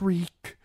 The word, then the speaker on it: Reek: Just Reek. It rhymes with freak.